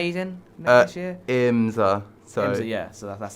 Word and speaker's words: IMSA: racing in if I'm not mistaken, is it ISMA he's in next year? IMSA. IMSA, yeah. So that's how you pronounce it.